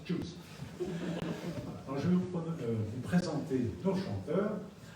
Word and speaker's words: Tchouzz: On s'est appelé Choose, c'est-à-dire T-C-H-O-U-Z-Z. Ça, on prononce Choose.